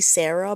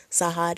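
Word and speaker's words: Sahar: I, when reading this comic, I pronounced her name as basically Sarah, but Sarah. But I think I Googled it and it's pronounced Sahad. At least the Arabic way is pronounced Sahad.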